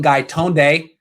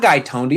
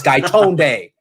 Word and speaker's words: Gaitonde: the polo boys are back grand cone sunil guy tone day not guy tony i hear some people saying guy tony i'm like that's not how you pronounce his name this guy tone day anyway we're looking fly uh we're gonna be